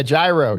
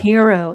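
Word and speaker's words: Hiro: Yeah, Gyro Gyro Katsuyama. He's He's He's He's cool. yeah. Yeah. Yeah. What uh how do you pronounce that? Sorry if I butchered that. Hero Hero Katsuyama.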